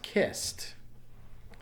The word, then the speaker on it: kissed: a cause of vibration no it doesn't so the past tense is kissed so that takes a T sound the next word is